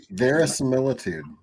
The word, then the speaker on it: verisimilitude: Verisimilitude is how you Yes.